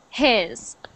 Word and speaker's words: his: So sometimes you say it like an E, but I wanted it to sound like an I. His.